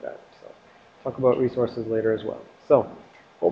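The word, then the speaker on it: .rsrc: And dot RSC, or, well, dot resource, I just pronounce it like resource.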